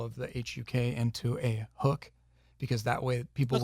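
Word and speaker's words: HUK: Because that way people would know how to pronounce it, because I called it Huck when I met him the first time, and he's like, it's actually Hook.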